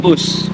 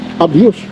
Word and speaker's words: ABUS: ano ko siya abus brad ano yung pronunciation niyan anong tawag diyan abus abus ha mamaya sabihin eh abuse o yan lang po biruin mo P,8 sao